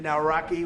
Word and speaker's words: Nawrocki: It's a great pleasure to have President Naraki with us.